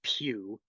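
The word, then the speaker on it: Pugh: I've had pretty limited exposure to, and I say his name, Steve Pew, like Hugh, but I just do that.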